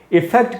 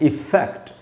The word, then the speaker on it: effect: वो है EFFECT, और इसका जो प्रोनाउंसिएशन हुआ है इफेक्ट। इसमें फै में जो ए है उसी पर आपको ज़्यादा देर तक रुकना है, वहीं पर स्ट्रेस है, उसको मैंने अंडरलाइन कर दिया है, इफेक्ट।